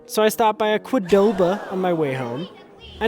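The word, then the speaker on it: Qdoba: So, I stopped by a quidoba on my way home. I know it's pronounced quoba, but when I first met my wife, Audrey, she pronounced it quadoba.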